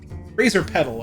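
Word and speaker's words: Razorpetal: Razor Petal. Okay, that's what it is. I finally got the correct pronunciation of that.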